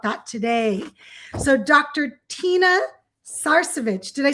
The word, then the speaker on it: Sarcevich: Tina Sarcevich, did I say it right?